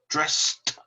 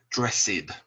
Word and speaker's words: dressed: is get dressed and we pronounce it with one sound dressed dressed uh do not say dressed it is only one